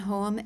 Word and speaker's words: Hoem: Hello, my name is Hoem, H-O-E-M, and I'm with Montana Elders for a Livable Tomorrow.